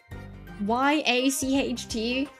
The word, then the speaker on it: yacht: bro you're telling me y a c h t is pronounced yacht when it looks like it' be pronounced like yachted English is weird.